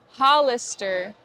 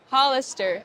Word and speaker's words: Hollister: You pronounce this store Hollister. Hollister. If you're a Spanish speaker, pronounce the H like a J. Hollister.